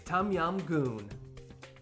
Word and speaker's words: Tom Yum Goong: popular Thai soup that's difficult to pronounce but very easy to cook and it's healthy for you it's tum yam goon tum yam my name